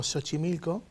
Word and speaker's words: Xochimilco: jota por ejemplo méxico o puede ser como ese por ejemplo xochimilco o puede ser en